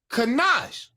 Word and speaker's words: ganache: I said, how you pronounce it? Is it Kanash? And he laughed. And he said, it's Kanash.